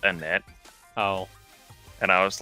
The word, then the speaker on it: Annette: I feel kind of bad because that whole gym battle, like with that one trainer, I kept saying Anita for the person whose name was actually pronounced Annette.